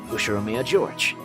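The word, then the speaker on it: 右代宮譲治: His name is this, pronounced Ushiromiya George.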